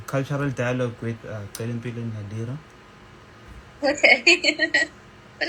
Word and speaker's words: Celimpilo: Celimpilo.